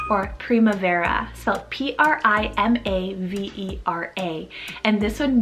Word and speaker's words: primavera: gorgeous for your little girl it's the name primavera or primavera so p-r-i-m-a-v-e-r-a and this one means the spring